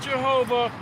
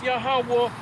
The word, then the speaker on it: Yahawah: name the most high God's name is yahwah not Jehovah not yahwa it's yahawah bahashem means in the name